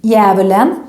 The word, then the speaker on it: djävulen: Anyway, in this word, again, we write the D, djävulen, but we don't pronounce it.